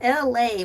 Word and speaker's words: Elay: Welcome to LA. My name is LA, pronounced like LA, like the city.